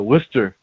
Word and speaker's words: Worcester: say that for sure um i went to worcester massachusetts and you said it right good for